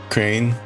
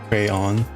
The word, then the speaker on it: crayon: Crane crayon. There's a the crane is a bit like the the typo there that Olive had for crayon. Crane. There are numerous pronunciations.